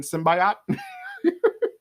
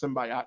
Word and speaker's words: symbiote: and it was like, no, it's not pronounced symbiote, it's pronounced symbiote because of what it is. It's a symbiotic relationship, so you don't say symbiote, you say symbiote.